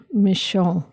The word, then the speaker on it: Michon: author is michon oh okay I thought you were saying that that was the name of the is that did I say it right yes that sounds very French m i c h